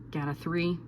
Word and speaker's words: GATA3: The way that I'm remembering this one is get a T cell, so GAT, and also 3 rhymes with T, so GATA3.